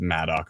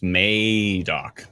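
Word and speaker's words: Madoc: May dock yeah sorry we've been pronouncing madok wrong the entire time so our apologies I think we said Maddock 100 times so uh again this calm is making very clearly sure that we know it's May doc yes madok sorry I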